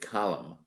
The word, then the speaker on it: column: why is it that the word column does not pronounce the N, but the word columnist does? Columnist, column. Should it not be columnist?"